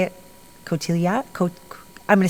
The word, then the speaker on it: Cotillard: Cotillard? I'm going to say it wrong. Cotillard, no D. You don't say the D?